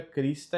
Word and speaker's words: Christe: Christe audimus, Christe audimus. Aqui o CH tem som de K, então fica Christe audimus.